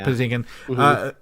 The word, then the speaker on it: Patinkin: I don't know how to pronounce his last name. Patinkin.